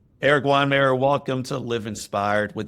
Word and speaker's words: Weihenmayer: So, I'm Eric and I'm Eric with an unpronounceable last name that used to be Weihenmayer, but now it's just Weinmer. Um it's been Wonder Breaded, breaded, I think.